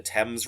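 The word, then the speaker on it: Thames: the river temps the temps River it's spelled themes but it's called the temps okay um it's the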